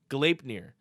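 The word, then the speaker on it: Gleipnir: He included the pronunciation for me, so thank you, Broondox. Galeipnir.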